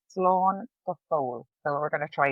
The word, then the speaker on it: slán go fóil: And how you pronounce it is slán go fóil.